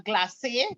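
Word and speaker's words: glacé: in the packs are glassy glhce with a little accent on the e and you want any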